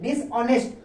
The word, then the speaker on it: dishonest: चलिए आगे देखिए, DISHONEST, इसको कहते हैं डिसऑनेस्ट। ऑनेस्ट बोलेंगे, हॉनेस्ट नहीं बोलेंगे, याद रखिएगा।